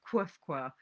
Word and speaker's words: Qfwfq: So Calvino is jumping in with this character, Quifqua, which is spelled QFWFQ.